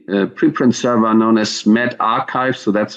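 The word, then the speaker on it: medRxiv: this a couple of years ago uh so met archives that's how it's pronounced especially a free online archive and distribution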